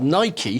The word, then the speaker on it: Nike: to that combination of Air Nike Nike it's pronounced Nike is the Greek word for victory uh and